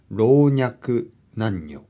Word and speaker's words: 老若男女: そして男女と回転男女と読みます老若男女本当には僕は言えないこれ